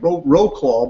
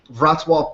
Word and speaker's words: Wrocław: This is based in, it looks like Wrocław, but it's actually pronounced Wrocław, Poland.